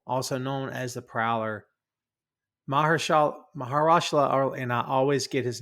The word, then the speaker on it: Mahershala: Mahershala, and I always get his name wrong, so no disrespect. Is it Mahershala?